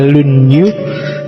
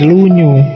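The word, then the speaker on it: Lun Yu: Yang pertama judulnya Dasu, yang kedua lunyu. Bacanya misah ya kalau disambung jadi lunyu. Y kalau lunyu licin.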